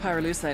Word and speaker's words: pyrolusite: You know what pyrolusite is, right? Yeah, neither did I. Pyrolusite, key syllable pyro, by the way, is the shit they mine in Villa Verde province to turn coca leaves into high-quality cocaine.